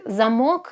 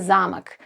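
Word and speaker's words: замок: But there are certain cases where stress changes the meaning of a word, like zamok and zamak.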